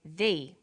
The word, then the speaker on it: the: difference in pronunciation though when the comes before a vowel sound we say V the apples so the before vowel